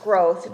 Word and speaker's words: Groth: It's pronounced growth, just so you know.